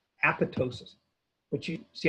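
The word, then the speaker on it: apoptosis: cell death is called apotosis apotosis which you see how it's spelled apotosis that second P you don't pronounce so it's apotosis programed cell death and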